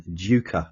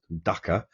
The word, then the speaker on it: Duker: I think I'm going to go with the former here, Brian Duker, not Ducker.